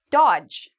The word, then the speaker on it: dodge: Dodge. Okay, D and G are together, so we get rid of dodge.